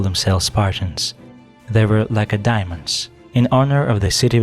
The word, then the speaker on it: Lacedaemons: They were Lacedaemons, in honor of the city with the same name. Even experienced historians sometimes mistakenly stress the last syllable.